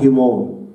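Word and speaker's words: ἡμῶν: كلمة هيمون دي للملكية، لما تبدأ بيوبسلين أو تبدأ بإيتا، والاثنين أصلا نطقها هيمون. مثلا هقول مسيحكم، هقول مثلا تون خريستوس هيمون، مسيحنا تون خريستوس هيمون، دي بالظبط في النطق، بس دي تبدأ بإيتا والتانية تبدأ بيوبسن، والاتنين التنفس هائي هيمون وهيمون.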